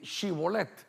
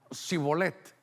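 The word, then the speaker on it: shibboleth: Y entonces, note usted, me hizo el favor aquí de ayudarme, que le decía, "A ver, di chibolet." Y la gente decía cibolet, o sea, que la h no la pronunciaban.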